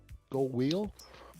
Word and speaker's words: Göweil: How do you pronounce it? Göweil.